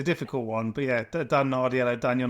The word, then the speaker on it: Nardiello: To be fair, it's a difficult one, but yeah, Dan Nardiello, Daniel Nardiello. Yeah, Yeah. It was a good pronunciation.